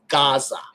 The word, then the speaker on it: Gaza: For example, Gaza. Yeah. Gaza doesn't begin with a gimel. It begins with an ayin, which today is a silent letter.